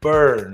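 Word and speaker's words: Byrne: It is David Burn, right?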